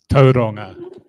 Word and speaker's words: Tauranga: Tauranga, as in Tauranga. Yes, I can pronounce most Māori pronunciations appropriately and properly.